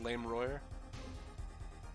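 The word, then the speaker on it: Lamiroir: Excuse me, it's pronounced Lammeror.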